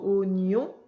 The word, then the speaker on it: oignon: Ça s'écrit oignon, mais on dit oignon.